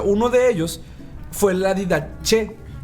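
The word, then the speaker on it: Didache: de ellos fue la didaché así se pronuncia y dh pero aún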